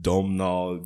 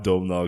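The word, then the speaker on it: Domhnall: says I keep mistaking do you know how to pronounce Gleason's first name is is it domnal Gleason I think you're correct yeah okay so we have Dome now Gleason Alicia vikanda and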